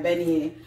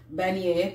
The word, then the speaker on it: beignet: the bunny is minions bunny yeah I never pronounce it right Benny so if you are everything if you ever come to New Orleans you definitely have to try beignet they're armed it's more